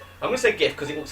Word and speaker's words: GIF: Because if you take the GIF of Batty Boy Chat, yeah, it probably is. If you take gift and just drop the T, it's GIF, isn't it?